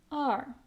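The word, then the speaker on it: 二: It pronounced as r.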